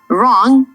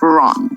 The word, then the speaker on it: wrong: right at the start right and wrong both have silent W just like whole right sounds like right wrong sounds like wrong in this conversation Daniel